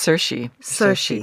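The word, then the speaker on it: Saoirse: the out Shi Ronin is that how you say it yeah it's got every single vowel in it s a o i r s e and you say it s I think it's cersi yeah it's Irish um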